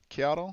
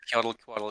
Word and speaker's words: Qiotl: Qiotl? Yeah, Qiotl, it's fine, yeah.